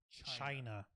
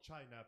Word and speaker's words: Chyna: not make any distinctions it's spelled c h y and a oh i know it smell like that but we know exactly what it sounds like oh come on come